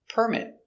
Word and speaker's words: permit: phone very good example permit it's a noun the stresses on the first syllable permit permit to build